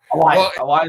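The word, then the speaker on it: Alioth: smoke thing Al alth I was mispronouncing it the entire my entire existence so far so oh elath is how they were pronouncing it so let's go with that yeah so elith shows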